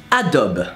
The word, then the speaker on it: Adobe: So how do we pronounce Adobe? Well, Adobe.